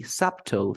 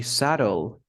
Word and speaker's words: subtle: And then we have the last one, which is subtle, because you don't pronounce the B. You don't say subtle. No, you say subtle.